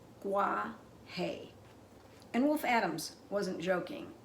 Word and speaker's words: Guaje: trees in the rainforest in case you didn't know this is how you pronounce it uh Gua hay and wolf Adams wasn't